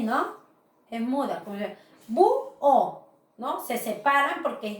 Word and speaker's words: búho: Entonces, bu-o. Miss, pero ahí está la H. La H no interviene a que se produzca el hiato o el dictongo.